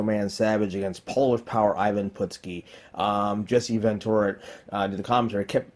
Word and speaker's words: Ivan Putski: always found annoying but Jesse Ventura mispronouncing the wrestlers names he did it with Tito Santana called Chico I haven't put ski he pronounced at Purdue ski I I know it's